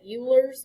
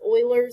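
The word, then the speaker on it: Euler: E is Oilers constant I know this looks like ERS but it's Oilers is how it's pronounced because it's not an it's not English I can't remember what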